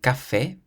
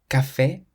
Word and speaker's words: café: C plus A, O, or U is pronounced like a K. If you see the letter C in front of an A, an O, or a U, then you pronounce it k.